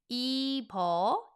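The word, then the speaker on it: 이뻐요: Now, the beu went to next door for pronunciation, so I'm going to put beu next door and it's going to be with the vowel o. Ippeo and then this again, yo.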